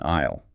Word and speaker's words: aisle: Just like the letter S in aisle, the letter P in receipt is silent.